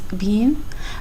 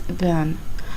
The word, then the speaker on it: been: uh by the way in Bridge English the pronunciation is Bean but in American English the pronunciation is Ben so just for your